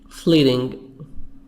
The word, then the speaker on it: fleeting: Fleeting, T soft D. Fleeting.